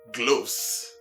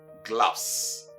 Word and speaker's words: gloves: After all, as you can see, it is just the letter G preceding the same word and the letter S ending it in gloves.